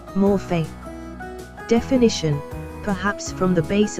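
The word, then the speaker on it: μορφή: Transliteration, morph. Pronunciation, morphe.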